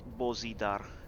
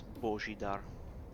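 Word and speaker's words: Božidar: well and we s that's actually the right pronunciation it's not bozidar its Boshy down at least that I would would sound in my language I don't know if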